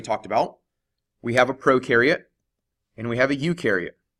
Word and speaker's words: prokaryote: about we have a prokaryote and we have a eukaryote the pro rhymes with no pro rhymes with no